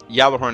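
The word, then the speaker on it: Gjallarhorn: or the Yer horn Yer horn is actually how you pronounce it anyway it's a German German word and uh I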